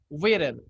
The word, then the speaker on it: Wheeler: Wheeler. Listen to me, the pronunciation. Wheeler. Wheeler. Wheeler.